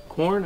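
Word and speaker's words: Quorn: So now we have the meatless grounds from this company called Corn, I think it's pronounced, Q-U-O-R-N.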